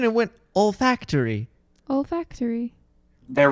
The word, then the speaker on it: olfactory: like i have to taste i mean old factory senses are uh the ones that are linked